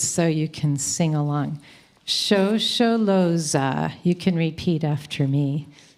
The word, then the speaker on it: Shosholoza: your order of service, and I'm going to pronounce the words so you can sing along. Shosholoza.